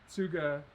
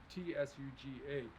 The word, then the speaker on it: Tsuga: this is western hemlock suga heterophylla suga is a japanese word t-s-u-g-a you pronounce both the s and the t tsuga uh it's the japanese